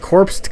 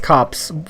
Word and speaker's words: Copse: yeah oh my god it's not corpsed cops well i'm stupid um i don't know i think it would be pronounced cops but i called the